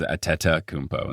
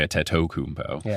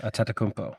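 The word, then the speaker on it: Antetokounmpo: Yeah, cuz a teta kumbo instead of a tetto. You don't say a tetto kmpo, right? A teta kmpo.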